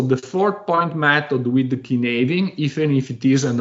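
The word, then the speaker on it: Cynefin: And thanks, by the way, correct me on the proper pronunciation, Kinaving.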